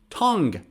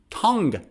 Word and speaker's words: tongue: to the guitar guitar or another example is tongue tongue you is silent tongue another one guest guest be my